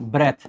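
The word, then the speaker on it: breath: ब्रीद आपकी एक verb होती है, ध्यान देंगे इसमें पीछे ई रहता है और इसका प्रोनाउंसिएशन ब्रीद होता है। और एक आपका जो ईडियम होता है दैट इज ब्रेथ।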